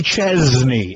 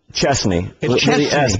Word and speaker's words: Chesney: I just noticed the exact I've always called you Kenny Chznney as though the S is pronounced like a Z.